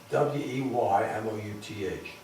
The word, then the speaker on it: Weymouth: east coast of england have you spelled it w-e-y-m-o-u-t-h weymouth just pronounced weymouth and there we were